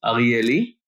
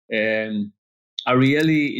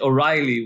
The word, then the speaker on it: Ariely: So in Hebrew, it is Ariely. Very hard to pronounce. Ariely is easier in English. I do get O'Reilly when I go to Ireland.